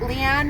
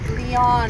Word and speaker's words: Leane: gracious very gracious and I'm embarrassed that I've been pronouncing her name wrong for years tell tell the world how long how do we pronounce it now oh I've been pronouncing it lean morti but it's Leon Leon she has amazing talent